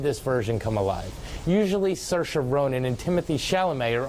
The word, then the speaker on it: Saoirse: I'm doing this reviews to pronounce Saoirse Ronan 's name correctly since in both my Brooklyn and Lady Bird reviews I called their sailors my apologies but she